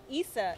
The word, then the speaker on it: Issa: say her name right Isa is ISA it's not is a like is a of sunshine no Issa is shut your ass up it's is insec ISA she's pronounce her name Issa well Issa with a